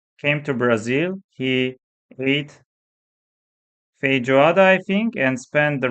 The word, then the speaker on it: feijoada: Feijoada? Am I pronouncing?